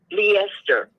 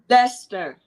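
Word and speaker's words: Leicester: I was just curious but it's leester Lester sister yayay yeah it's it's we we we pronounce it leester here um and I I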